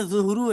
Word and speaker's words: ظہر: العشاء، مولانا جی جیسے چلیے، لوگ جو ہے ظہر ظہر بولتے ہیں ظہر کے لیے، تو وہ جملہ نہیں ہے، اصل میں ظہرو ہے۔ زورو ہے، لیکن اردو میں تلفظ یہ